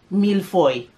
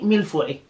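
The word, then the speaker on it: mille-feuille: would pronounce it as milfoy okay milfoy we're not french we don't pronounce properly so it's a puffed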